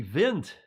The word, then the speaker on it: Wind: they screwed up it should have been the vint vent like wind wind is actually a german word the vint their fry height vape